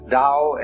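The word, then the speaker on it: 道: called the dao tao pronounced dao in the mandarin dialect tao in the shanghai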